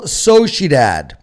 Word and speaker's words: Sociedad: Alaves versus Real Sociedad. How was my pronunciation, Nick? Oh, You got to, well, the Spanish ending would be Dodd. instead of dad. You got to have the Dodd.